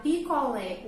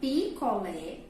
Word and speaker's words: picolé: Então, acento agudo na vogal E causa esse som aberto.